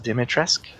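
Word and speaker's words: Dimitrescu: this of course um castle uh that is pronounced dimitra's castle dimitrisk so we now we know how to save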